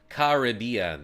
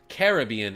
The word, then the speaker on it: Caribbean: good pokeon solid Pokemon Caribbean is the American pronunciation Caribbean is the British pronunciation well they know Nick